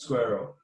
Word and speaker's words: SQRL: Telos Foundation Squirrel wallet, which is SQRL. It's pronounced Squirrel.